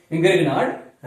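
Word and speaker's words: Grignard: एक ऐसी रिएक्शन है जिससे आपको ग्रेगनार्ड पढ़ते हैं लेकिन सही प्रोनाउंसिएशन ग्रिग्नॉर है, ग्रिग्नॉर रिएजेंट, और ग्रिग्नॉर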